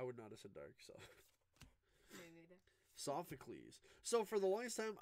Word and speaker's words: Sophocles: hyper rare I would notice a dark so sophocles so for the last time I didn't know how to say his name I was I was like I always thought was like Safa khals but then I watched the anime on Netflix